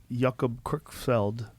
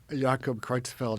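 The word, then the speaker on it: Jakob Creutzfeldt: when they get that jacob crook felled jacob kreutzfeld yeah yeah yeah thank you for pronouncing it better well when i was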